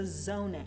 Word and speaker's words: oneg: to open with a zuneg. Zoneg? Rabbi helps me with my Hebrew pronunciation sometimes. So is it zuneg or zoneg? I think it's a zoneg.